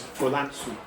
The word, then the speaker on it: Fulansu: But words like France, not so much, which is Fulansu.